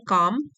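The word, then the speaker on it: calm: his ability to रिमे काम काम L silent है इसमें रिमे काम इन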